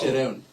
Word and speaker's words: Jerome: I'm probably going to mispronounce his name. Jerome. J-E-R-O. It's Jerome.